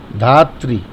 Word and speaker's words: धात्री: रूपणी प्रणत पालिनी जगत धात यहां धात नहीं लिखा है। अधिकतर लोग यहां धात बोलते हैं। धात नहीं ये नीचे वाला र लगा है। तो इसका उच्चारण इ से होगा। धात्री जगत धात्री यहां एक निशान लगा लें। धात्री बोलेंगे अंबे वही सही है।